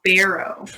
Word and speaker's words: Barrow: It's Barrow. Barrow. Oh, not bar. I'm sorry. It's Octaviak now because you have to pronounce it the native pronunciation.